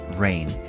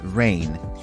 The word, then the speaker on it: reign: at the highlighted word rain this word is pronounced the same as rain as in in water falling from the sky as a verb it